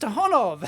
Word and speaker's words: ToughOn: Aha, it's pronounced ToughOn.